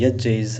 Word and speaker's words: यज्ञ: यज्ञ जिसको हम हिंदी में यज्ञ भी कहते हैं लोग, हालांकि वो ज और य का कॉम्बिनेशन है। यज्ञ इज़ राइट प्रोनाउंसिएशन।